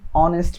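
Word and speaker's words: honest: নিচেরটা অ্যান অনেস্ট ম্যান, মানে একটা ভদ্রলোক, ভালো মানুষ, তাহলে এখানেও কিন্তু এইচ উচ্চারণ হয় না।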